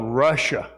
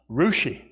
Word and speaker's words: Russia: There's actually a place called Russia, Ohio, but it's pronounced Rushi, Ohio.